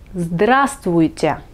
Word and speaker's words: здравствуйте: Et bonjour en russe, c'est здравствуйте. Здравствуйте. N'ayez pas peur de ce mot un peu long, prononcez-le quelques fois et vous allez vous y habituer.